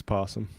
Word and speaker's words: opossum: That's how you spell it, but it's possum. Is that really how you spell it? Yeah. They Irish? Really? For real? Yeah. Opossum, but it's possum. But the O is silent?